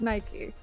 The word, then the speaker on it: Nike: I'm being informed it's Greek, and that's why it's pronounced Nike.